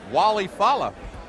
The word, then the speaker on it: Walle Falla: All right, well, Mark obviously taking the ethnic pronunciation, but he wants to be called Walle, Falla.